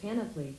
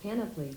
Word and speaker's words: panoply: it okay how do you pronounce panoply that's pronounced panoply that seems a little tautological but okay it wasn't any process how do you pronounce panoply that's pronounced panoply very good so the challenge is you